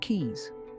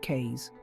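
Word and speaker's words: cays: Waters but please Darlings it's pronounced keys not K's mispronouncing it would be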